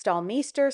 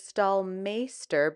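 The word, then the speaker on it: Staalmeester: I actually looked up how to pronounce the name of this brush because I never know if it's stallmester, stall master, and I've learned that it is stalmeister because it comes from a Dutch, it's a Dutch word.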